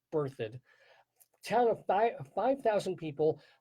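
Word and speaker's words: Berthoud: e r t h o u d it's pronounced birthd town of five 5,000 people pretty close to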